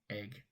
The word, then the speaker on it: Egg: We ride up through a town called, believe it or not, Egg. Yes, it's spelled exactly how it's pronounced. Egg.